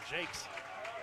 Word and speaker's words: Jakes: four or five yeah that's not a silent s either Jakes that's not terribly bad